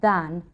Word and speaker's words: than: quickly than you do note the pronunciation of than which is normally unstressed then London is bigger than